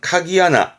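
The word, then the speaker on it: 鍵穴: 혈자 구멍 그러니까 건 혈이 아니고요 열쇠 구멍입니다 발음은 카기 아나 카기 하나 합자 그런데이 합자 붙게 되면서 서로를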